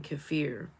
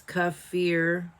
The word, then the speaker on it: kefir: But I cannot guarantee that I will get it right every time because I'm used to saying Kefir. But it's Kefir.